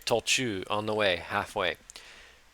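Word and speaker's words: 途中: Was it Tolnaka? 途中で 30 分ほど休みま That's しょう。 not Naka there, it's Chu. Okay, Tolchu, on the way, halfway.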